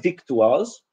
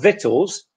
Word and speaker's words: victuals: And the last one, victuals, if you pronounce the word victuals, which is very likely, I've heard it many times from Polish students, instead of victuals, then there's no way an English person can understand you.